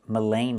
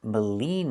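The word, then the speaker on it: Maligne: It's not pronounced Melain Lake. It's pronounced Molen Lake.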